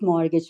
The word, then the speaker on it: mortgage: yes mortgage a very other important concept is mortgage mortgage suits and you have to know the pronunciation of this it is not Mage isent